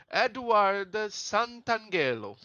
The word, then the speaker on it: Eduard Santangelo: the Journal of renowned renowned Adventurer and philanthropist Edward santangelo that's it we'll never say his name again